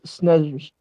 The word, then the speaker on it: Snezhnevsky: I can't pronounce that last name. Okay, Andrei, can you hover over it? Nevsky. Nevsky? Yes, Snezhnevsky.